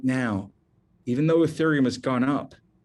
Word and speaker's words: Ethereum: is called ethereum and i'm going to spell that for you e-t-h-e-r-e-u-m it's pronounced ethereum if you only buy